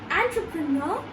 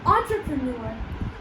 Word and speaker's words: entrepreneur: Because we are emphasizing on the first syllable, that's why we are not going to say entrepreneur. Okay? So that's how you are going to pronounce this word entrepreneur.